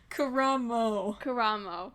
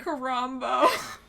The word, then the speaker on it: Karamo: Karamo. Not Karambo.